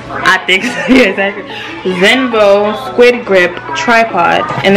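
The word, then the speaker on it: Xenvo: Is Zinvo? That's how you pronounce that, right? Zinvo. Because the X is pronounced like a Z, right? Yeah. I think so. Yeah, exactly. Zinvo Squid Grip Tripod.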